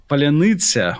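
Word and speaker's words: паляниця: And as to our discussion of your accent, can you pronounce this famous shibboleth word, palyanitsya or whatever?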